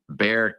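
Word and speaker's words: Bexar: It's called Bear County, but it's spelled B E X A R. Don't ask me why they don't pronounce the X, but anyway, that's what it is. In Bear County, he he was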